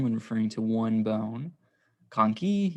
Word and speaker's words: conchae: Conchae, you just add an E to it and then say it like conchae to pluralize it.